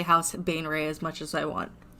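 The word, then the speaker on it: Baenre: house Bane Ray oh I realized I mispronounced it B house ban Ray Bane Ray b a e n r e b NE e b a e a like apple e like edar yeah could you spell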